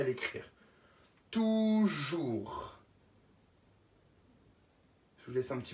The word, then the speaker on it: toujours: Avec un T, O, U, qui fait la syllabe tout. Tout, jour. Et puis une petite lettre muette qu'il ne faut pas oublier, c'est le S.